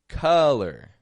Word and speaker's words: color: as a letter U spelled with an O pronounced with a u uh sort of sound words like Monday oven color dozen uh they're all getting an uh sound just a u uh but this spelling